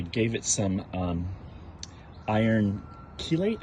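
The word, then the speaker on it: chelate: Um the leaves are a little yellow, so I I gave it some um iron keilate. I think it's pronounced keelate last night.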